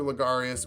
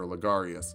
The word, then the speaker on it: Logarius: we were building master lagarius we'd use a human but it turns out i was reading your name wrong you're definitely martyr legarious i always assumed his